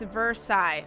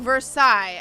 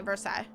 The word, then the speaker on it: Versailles: date and events okay it's versaille oh versailles i just said it i didn't i thought you were sighing at me okay verse i it's how it's pronounced my bad that was